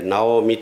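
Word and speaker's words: 直海: 坂本直海と書いて直美と読みます。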